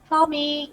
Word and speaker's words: Fahmi: Fami, can you hear me? Yes, yes. You pronounce it Did I correctly.